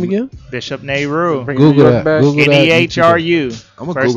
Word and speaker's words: Bishop Nehru: Bishop Nehru.